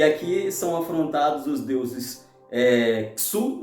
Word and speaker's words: Shu: são afrontados os deuses Sul né que se escreve Shu que é o Deus